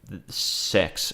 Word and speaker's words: CeX: And I looked it up and yeah, it's it's pronounced sex.